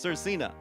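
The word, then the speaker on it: Svrcina: the name Sir Cena, because it's spelled S-V-R-C-I-N-A. And I kind of joke, sometimes artists just need to spell your name out, so I know how to say it. But I looked it up, and it is pronounced Sir Cena.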